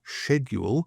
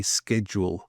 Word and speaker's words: schedule: We would say schedule. So it's not like school, it's schedule and the Americans would say schedule.